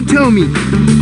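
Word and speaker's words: Thome: I'm Tomey. I bat left-handed, but I throw right-handed. Tricky, huh? My last name is spelled T-H-O-M-E. It's got one of them silent H's in it.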